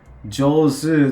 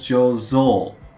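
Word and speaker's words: 醸造: And it's not Jozu, it's Jozo. What was Jozo?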